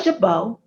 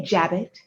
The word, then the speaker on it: jabot: what i'm wearing is what's called a jabot some pronounce it a jabbet many of you may